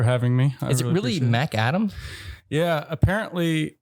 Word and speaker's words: McAdam: McAdams. Real hot mic. Is that how you say it? No S. McAdam is apparently how you're supposed to say it.